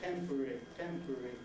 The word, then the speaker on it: temporary: if you wanted to, you could make that R a whole syllable, temporary. But what would normally happen, as it does with all syllabic consonants in English, is if there's another syllable following, vowel following, usually we don't even bother to make it syllabic. We just say R, set temporary.